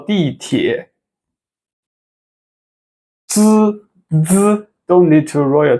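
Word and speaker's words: 地铁: 坐地铁 fourth tone, third tone, okay?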